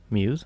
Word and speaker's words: μ's: jump right into it Muse spelled with the Greek letter that looks like a u are the main characters